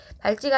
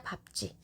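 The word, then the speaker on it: 밟지: 자, 발찌가 아니라 밥지. 예외 현상입니다.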